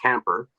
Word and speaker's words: Kemper: Bass player Dick Kemper, spelled Kemper, but his nickname is Motorhome, so that is my signal, and it's pronounced Camper.